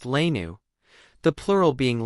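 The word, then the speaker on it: léine: wearing saffron colored belted tunics called Lane pronounced lanu the plural being l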